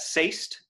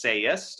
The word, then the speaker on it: sayst: So that sayst is actually, that's actually one syllable, and sayst. So if you add that E, it becomes sayest, and that's two syllables.